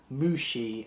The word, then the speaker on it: Mushy: This is Mushi. It's spelt like Mushy, but it's actually pronounced as Mushi, and I think I might move the camera around.